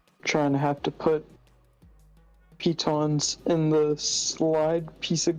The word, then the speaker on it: pitons: Kudos to you for pronouncing them pitons. Like, because that's the actual pronunciation.